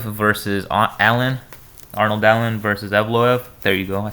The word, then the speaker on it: Evloev: Arnold Allen versus Evloev.